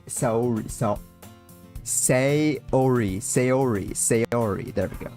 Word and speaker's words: Sayori: Sayori. There we go. Sayori.